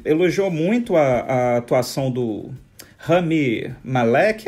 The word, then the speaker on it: Rami Malek: Mas, enfim, ele deu uma entrevista ao Press Associated, e ele falou que elogiou muito a atuação do Rami Malek. É assim que se pronuncia, diretor?